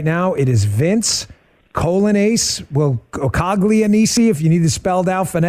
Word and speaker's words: Coglianese: It is Vince Colonace. Well, Okagani, if you need it spelled out phonetically, C O G L I A N E S E.